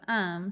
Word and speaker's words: Aum: what i'm saying and most people just call the cult um which is a-u-m but you pronounce it um for short like our filler word um yeah true and that's